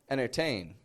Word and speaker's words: entertain: Entertain. Entertain. Entertainment night. Keep those in mind. we drop that T. We make the N short, and we pronounce the word very quickly.